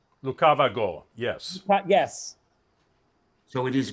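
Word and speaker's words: лукаваго: syllable in the song are you saying it's it's pronounced as a g rather than an h lucavigo yes yes so it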